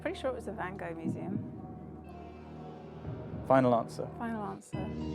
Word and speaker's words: Van Gogh: How do you pronounce it in Dutch? Van Gogh.